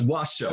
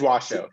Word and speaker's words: Washoe: And I have to say, I've been pronouncing it wrong my entire life. My entire life I've been saying Washoe County. So it's Washoe, right? It is Washoe, yes.